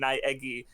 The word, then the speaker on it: Naegi: So like the fact that like Naegi specifically is pronounced, it's pronounced Naegi, was like really fun.